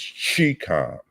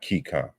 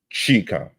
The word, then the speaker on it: Chikam: And it's Chikam, not Kikam. Chikam. Pronounce it correctly.